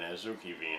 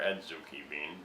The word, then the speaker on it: azuki: a red bean called an azuki bean or edzuki bean, depending on how you choose the right or to pronounce it. Both are acceptable.